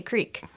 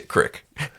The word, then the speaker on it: creek: bagel bagel okay boel how do you say Creek well I say Crick cuz I'm from the self towns my dad says Crick I say Creek but I do love